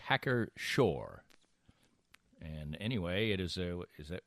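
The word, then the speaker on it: Hacker-Pschorr: Do you pronounce the P? I don't think so. I would say Hacker Shore.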